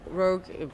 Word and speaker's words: Roug: Yeah, no, I mean, Roug is the way to pronounce it.